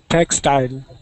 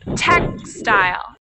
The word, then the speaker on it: textile: Textile. Okay, so the stress is where? First syllable or second syllable? Second syllable. No, not quite, because we're saying textile. Textile. The stress is on the first syllable.